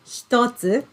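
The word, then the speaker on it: 一つ: can see one and then hiragana two we pronounce it as stotsu and then we use this word to count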